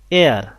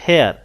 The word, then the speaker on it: heir: হি হ্যাজ অ্যান এয়ার, এয়ার নট হেয়ার, তো এখানে এইচ এর উচ্চারণটা হয়নি, এখানে একটা ভাওয়েল সাউন্ড আসছে, এই কারণে বসিয়েছি এন।